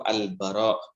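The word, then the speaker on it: al-Bara': yaitu dari pesawat al-baqarah Ibnu azib nya cara bacanya itu al-baqarah bukan Albar Romeo nggak ada passwordnya pokoknya al-baqarah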